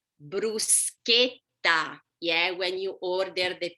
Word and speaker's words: bruschetta: repeat with me so remember ch k sound so what is the right pronunciation of bruschetta yeah when you order